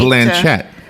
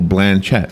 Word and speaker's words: Blanchett: It's Kate, Blanchett. Oh. You put the accent on the first syllable. Blanchett.